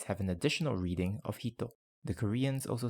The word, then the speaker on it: ひと: The Japanese and Koreans also have their own ways to say 1, which is why the Japanese have an additional reading of hito.